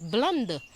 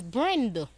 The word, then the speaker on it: Brenda: They ask me if it's me that's Blunder. I say my name is not Blunder, it is Brenda.